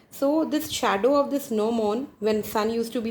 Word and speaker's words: gnomon: G is silent over here, it's called as gnomon. So what gnomon always faces towards the north-south direction.